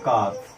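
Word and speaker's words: calf: इन सब के बच्चों को हम बोलते हैं काफ। ये यल साइलेंट होता है, ठीक है।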